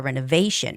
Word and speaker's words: renovation: Renovation. I always tell you guys, any word with the tio ning has the stress right before the ti n. This syllable right before tio n this time is va. So, renovation. Mhm.